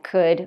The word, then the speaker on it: could: already should could would so there's no L pronounced at all this vowel u sounds like u so we have should could would just forget about the L we don't pronounce it at all and I have a